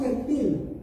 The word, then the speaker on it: fertile: Israel is the most fertile okay or you sometimes you can pronounce fertile but it's for ferti Okay soil in the